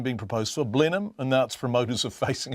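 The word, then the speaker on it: Blenheim: woken a sleeping giant you can tell the locals from The Outsiders by the way they pronounce blenham call it blindheim like the once trendy 1980s casked wine and you'll be met with a parochial smirk the group driving the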